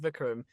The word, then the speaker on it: Vikram: weird because like my name is pronounced Vikram, but like people pronounce it as stinky butthole, and it's like like where does that come from? How'd you get that? Like what the fuck? No, I'm just kidding. I'm But, sorry. like- I was not expecting that at all. Nah, but like people I've heard people pronounce it as Vikram. Vikram is actually the correct pronunciation.